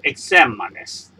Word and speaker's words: exámenes: The stress is in sem. So you change it to plural. You add ES, but the stress have to be in here, so you add an accent on the top of the A.